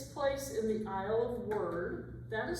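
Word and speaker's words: Wyrd: It takes place in the aisle of word. That is spelled W Y R D. That may be pronounced weird or word.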